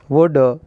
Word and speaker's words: would: In these letters L is silent, would and should.